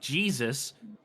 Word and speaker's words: Jesus: it's pronounced Jesus, not Yeah, Jesus.